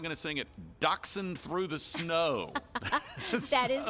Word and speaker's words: dachshund: in my life but many people call it dash town so dash hound through